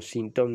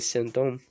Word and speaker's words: sinthome: Ahí lo pronuncian como sintón, no sé por qué. Lo digo sistemáticamente, excepto alguien que, porque Benjamin Dom habla francés y sin embargo dice sintom. Incluso lo he escuchado por Isidoro Beck. Creo que es la única que lo pronuncia bien y ella habla tanto francés casi como castellano, es Silvia Amigo, y es creo que la única que dice sentón.